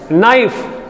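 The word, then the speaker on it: knife: knowledge उच्चारण करते हैं ना के साइलेंट है नाइफ के साइलेंट है तो ऐसी बहुत सी दुनिया भर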